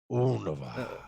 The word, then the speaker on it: Unova: It's Unova. I've always heard people say Unova, but Unova.